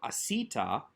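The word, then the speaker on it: עָשִׂיתָ: starts with a verb asita again with the accent on that second to last syllable because the verb has an affixed subject marker of a tav plus a comments ending in a vowel so not strong enough to draw the accent to itself the subject marker is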